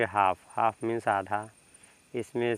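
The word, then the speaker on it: half: पर देखिए यहां पे एच ए एल एफ है तो एल के बाद ही तो एफ आ रहा है इसका मतलब एल साइलेंट हो जाएगा जब एल आपका साइलेंट हो जाएगा तो क्या पढ़ेंगे बताइए क्या पढ़ेंगे बताइए इसको तो इसमें आप लोग पढ़ेंगे एल साइलेंट तो इसको पढ़ेंगे हाफ हाफ मींस आधा इसमें से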